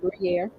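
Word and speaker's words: Gruyère: Trust You said it right, Gruyere.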